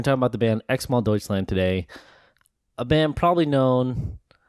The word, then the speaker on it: Xmal Deutschland: But we're going to say Xmal Deutschland. The band name is spelled Xmal, or sometimes it's spelled X-MAL Deutschland, which is Germany.